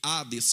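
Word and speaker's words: Hades: se escreve Ena e se escreve Ades com H mas o h No grego tem som de R assim como o hot dog em inglês assim como também a maionese helmas logo a palavra radz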